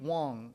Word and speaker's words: Wang: woman named Amy B Wong Amy B spelt Wang but pronounced Wong there's another am in